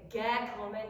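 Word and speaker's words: געקומען: are holding it, and even though you wouldn't normally say gekommen, gekommen, if you are sustaining it, I give you permission to differentiate it from German. Gekommen. Gekommen. Yeah, because it's not German. It's Yiddish, so it's going to be more open.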